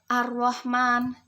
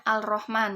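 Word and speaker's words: الرحمن: Ar-Rahman dibaca di sini kan tulisannya alif lam ro. Kalau di bahasa Indonesia itu tulisannya Al-Rahman ya. Tetapi di sini dibaca alif lam diikuti huruf ro, maka dibaca dengan Ar-Rahman.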